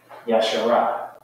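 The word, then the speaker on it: ישרה: Yashara. Okay? Yashara. I spell that in the ancient.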